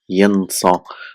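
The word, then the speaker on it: يَنسَى: of fatha here and this is pronounced as a, so we don't need to put any sign of fatha here. So it's still pronounced as yansa.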